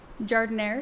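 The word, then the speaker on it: jardinières: Jardinieres. That's how they told me to pronounce it. Yeah. Is that right? Does that just feel wrong every time you say it? It feels wrong. It feels like it needs to have a French pronunciation.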